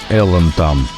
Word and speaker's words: Alan Tam: Voici un album de 1985, l'artiste dont vous voyez le nom sur la pochette est Alan Tam Well ou Alan Tam (prononcer - Elan Tam) Mais si c'est le cas dans l'original -